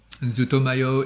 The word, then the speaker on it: ZUTOMAYO: yeah there you go zootomayo is uh like how it's pronounced z-u-t-o-m-a-y-o ah there you go